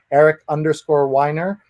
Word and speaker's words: Eric Weiner: And you can pronounce the name in many ways, but he says there's an easy way to remember how to pronounce his name. Somebody who whines a lot and likes to drink wine, I would say.